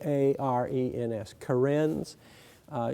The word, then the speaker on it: Karen: Kens k a NS Karens uh you would pronounce that probably with a different accent when you saw it in print the kin now the kin are